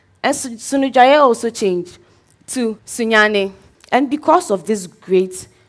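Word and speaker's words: Sunyani: So what I'm leaving with you all is, the right pronunciation of Sunyane isn't Sunyane, but Sunyane, Medamasi.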